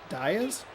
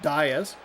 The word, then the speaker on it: Diaz: Diaz. Okay, that that caught me off guard. Not DZ.